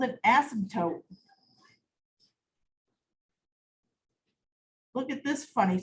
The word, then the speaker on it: asymptote: It's called an asymptote. Look at this funny spelling. It's got a P in it. Asymptote, but you don't really say the P.